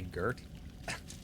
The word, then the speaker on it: Gert: Nobody can say Gert. They say it with a soft G.